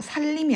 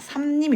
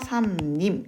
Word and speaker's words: 삼림: 발목을 분자 하고 있다 살림이 아니라 삼림 입니다 자 이유는 어 이유는 이 카페 나와있는 미음에 영향을 받아서 이 비율이 이은 으로 바뀌기 때문이죠 4 비움 합니다 그래서 산님 이라고 발음을 하는 겁니다 자 그럼 두번째 권리